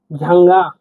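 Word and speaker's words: жаңа: ই হিসেবে উচ্চারণ করব। আমরা উদাহরণ দেখছি। দেখুন ঝাঙ্গা। ঝাঙ্গা।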